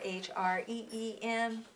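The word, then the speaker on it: hrim: at it it's here H R I M or H re eem and we're going to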